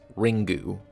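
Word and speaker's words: リング: out in 1998 and is pronounced in japanese ringu i'll be calling it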